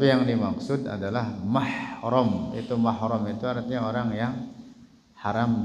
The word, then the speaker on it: mahram: atau yang bukan mahram ingat-ingat bacanya mahram bukan muhrim mahram banyak yang salah nyebutnya muhrim kalau muhrim itu artinya